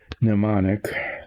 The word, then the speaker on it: mnemonic: I have to what do you call it, like a mnemonic, mnemonic. The M is silent, I guess.